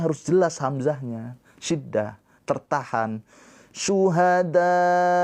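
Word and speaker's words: شهداء: Syuhada tuh dikasih penekanan akhirnya. Kenapa? Karena supaya menandakan di situ ada hamzah.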